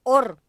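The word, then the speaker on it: עור: De hecho, las dos se pronuncian igual, justamente, or.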